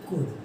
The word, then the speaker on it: could: यूज ऑफ कुड। Okay guys, यहाँ पर L silent है, हम इसको क्या पढ़ते हैं? COULD, कुड।